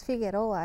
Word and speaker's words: Figueroa: Figueroa es Figueroa.